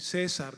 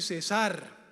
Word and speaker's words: cesar: El apóstol Pablo dijo, "Oren sin César." ¿Dónde está César? Hay que leer bien, no hay que poner bien los acentos. El acento va en la segunda sílaba, no en la primera. Oren sin cesar, es decir, no dejen de orar.